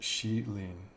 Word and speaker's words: Shihlin: And then all of these have, I was informed, and I'm going to do my best effort on this, is pronounced Shihlin. So I'm going to do my butchered American version of Shihlin and just say it like that from now on. Instead of Shihlin, Shihlin. We'll go with that.